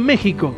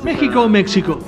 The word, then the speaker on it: México: querida estoy viviendo en México sí a México México porque tiene una x pero en realidad la x para en cuanto a historia mexicana es se pronuncia como J bueno a ver vamos